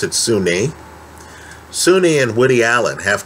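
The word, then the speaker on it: Soon-Yi: i believe it looks like it should be pronounced soon ye but they pronounce it sunni sunni and woody allen have come out and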